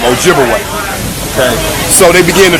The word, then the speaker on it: Ojibwe: twice and of course they corrupted the pronunciation of those Ojibwe people to Chippewa absolutely so Chippewa and Ojibwe that's the same people wise the European Corruption of their real name Ojibwe okay so they begin